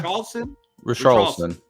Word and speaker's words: Richarlison: I can't pronounce his name. His name is very different. Richarlison? Yeah. Richarlison.